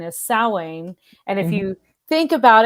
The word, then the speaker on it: Samhain: like salwain think of there's a little bit of that like halloween in there so that's how i